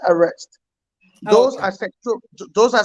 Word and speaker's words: ARREST: So let's delve into how the Unity Party government plans to achieve the goals of, how do you say the acronym ARREST?